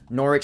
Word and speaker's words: Norwich: Against the Donphanatic, or Shorty, or Jack, or the Norwich Skitty, because they kind of pointed out before that the W was not, in fact, pronounced.